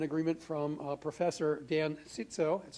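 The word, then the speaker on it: Cziczo: Uh we've already got an agreement from uh Professor Dan Sitso, that's how he pronounces it, uh to come and talk about how the atmosphere affects climate change.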